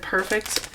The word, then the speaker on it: Purrfect: to be Simon's perfect cats and I said perfect like it is spelled here like purr these cats are pretty